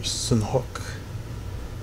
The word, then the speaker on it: Sanhok: Or Sanhok, I think is how it's properly pronounced.